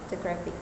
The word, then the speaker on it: photographic: For example, in the word photographic, the stress falls on the first syllable, photographic. But there is also a extra stress on the third syllable.